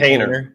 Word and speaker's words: Haener: Jake Haener. Jake Haener.